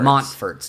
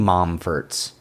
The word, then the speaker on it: Montforts: The Montforts. Technically, it's Mont, but no one says the T. Like mountains.